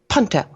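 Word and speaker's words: P'NTL: And the apostrophe, he explained, in a verbal language, indicated what they referred to as a lip flap, meaning you poof your lips. P, p. So the proper pronunciation of their planet would be Puntel, P-N-T-L. And we can write it out with vowels if we choose to as P-O-N-T-E-L or T-E-L-L.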